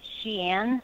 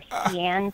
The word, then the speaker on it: Xi'an: In a pretty rural part, Xi'an, or Xi'an, depending on how you want to pronounce it.